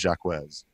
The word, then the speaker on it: Jacquez: to mind but uh officially it is jacquez okay we've been told